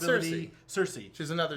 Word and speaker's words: Cerise: Cersei. She's another. It's spelled differently, but it's Lilandra's sister from the Shi'ar.